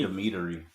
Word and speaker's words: Dimitri: I think I added an extra syllable to Dimitri. Yeah, you said. Dimitri.